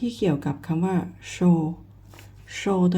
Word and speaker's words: 收: ต้อง ชื่อ ตัว นี้ นะ คะ อ่าน ว่า Show สิ้น นะ คะ แปล ว่า รับ จด หมาย